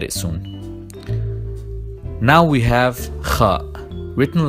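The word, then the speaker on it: خ: Now we have kha, written like jim and ta, but this time with the point written on top. And we pronounce it kh, like also in Spanish how they say julio or james.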